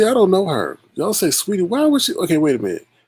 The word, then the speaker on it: Saweetie: but you say it's sweetie no they said say sweetie say sweetie jay sweetie say sweetie what's up